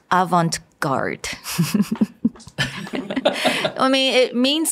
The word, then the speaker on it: avant-garde: It's not a E or an A, so you don't actually pronounce the T. So it's avant. It's not avant. It's avant and then avant-garde. Garde. Avant-garde.